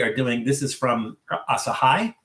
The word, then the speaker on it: Asahi: And today we are doing this is from Asahai. This is asahai super dry because it rhymes.